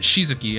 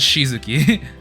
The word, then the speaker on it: Shizuki: Okay, so they pronounce it Shizuki, and I actually looked up his name. In Japanese, it was Shizuki.